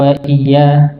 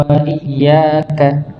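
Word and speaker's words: وإياك: biasanya biasanya ya biasanya ada sebagian yang bacanya iyaka nabudu waya iya bukan Iya iyaka nabudu iyaka na'budu Wa I harusnya iyaka nabudu Wa iaka ada ada hentakan jadi benar-benar kelihatan Hamzah ini masuk ke huruf ya Jadi kalau maknanya pun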